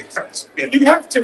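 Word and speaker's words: Hirschfeld: You got to say Hirschfield. You have to. You got to say it like that.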